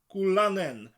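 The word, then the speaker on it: gwlanen: Think of goo as in a slimy stuff that you can buy. Goo lan, almost like land. N, like the letter.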